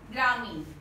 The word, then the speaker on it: ग्रामीण: ग्रामीण, ग्रामीण तो नहीं बोलते हम, क्या बोलते हैं? ग्रामीण। शब्द क्या होता है? ग्रामीण। न नहीं, मूर्धन्य ण, अण का उच्चारण कर रहे हैं, ग्रामीण, तो लिखना भी चाहिए ग्रामीण।